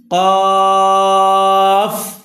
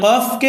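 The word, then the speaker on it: ق: করেন ফা ফা ফা কফ কফ এই কফকে অনেকে আমরা কাফ বলি এ কফকে কাফ বলা যাবে না কফকে কফ বলতে হবে এ হরুফটার নাম কফ কাফ আর এটা হলো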